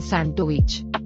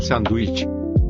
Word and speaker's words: sándwich: Say it again. Un sandwich. Sandwich. Un sandwich. Sandwich. I don't know about that at all. Other than I need some different pronunciation on that. Un sándwich. Un sandwich. Okay, that's better.